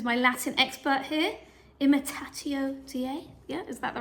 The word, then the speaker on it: Dei: Imitatio Dei? Yeah, is that the right word? Am I saying it right? Latin? Imitating God? It's day. Dei.